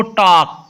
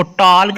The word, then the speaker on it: talk: देखो TALK, इसको टॉक। टॉक होता है बात करना, TALK टॉक, इसको टॉल्क नहीं पढ़ना।